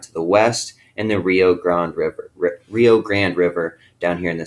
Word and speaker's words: Rio Grande: So Rio Grande, it's actually pronounced Rio Grande. It's Spanish for big river, okay? And it's the border between Mexico and the United States, okay? We call it Rio Grande. In Spanish, it's Rio Grande, all right?